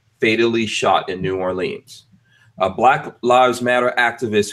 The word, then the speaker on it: New Orleans: name of the city he needs to say it properly New Orleans not New Orleans New Orleans New Orleans